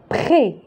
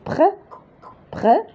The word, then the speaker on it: près: Près. La syllabe complexe près. On va ajouter ES. S. S. Il a S. Donc, ici, on ne va pas prononcer S, mais on va prononcer seulement E accent.